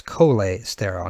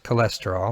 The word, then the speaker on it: cholesterol: familiar with a very important sterol known as cola sterile now we pronounce it cholesterol like a normal human being but is an